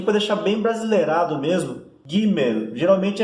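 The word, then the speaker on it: גימל: A gente pronuncia bem o L no final, é Gimel.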